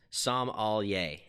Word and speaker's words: sommelier: my certified some exam it's pronounced some all yay yes sommelier yes I mean sure